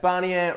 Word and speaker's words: Bannion: channel my name is Bannion rhymes with Garnier and if you are